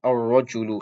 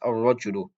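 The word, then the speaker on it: الرَّجُلُ: rajulun, this noun rajulun, it will be with a tashdid on the sun letter. Ar-rajulu, this is how it's pronounced. Ar-rajulu.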